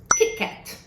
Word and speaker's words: Kit Kat: Em português, a nossa pronúncia do T é normalmente, na maioria dos estados, tch, como falamos tia, né? Mas, em inglês, se nós fizermos esse som, pode ser que entendam palavras como Cheetos, que é a combinação